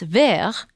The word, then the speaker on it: verre: Some have speculated that Perrault never meant for the shoe to be glass, but that the French word for glass, verre, sounds and is spelled very similarly to the French word